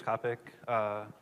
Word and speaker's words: Kopic: I'm Kopic. And by the way, I have a topic for you. My last name rhymes with topic.